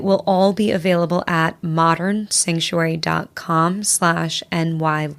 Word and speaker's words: Modrn: do people find out more about you and modern sanctuary absolutely a great question we would like